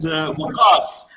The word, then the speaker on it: Waqas: And he said, "Waqas." And he said, "Oh, that sounds like the English word because."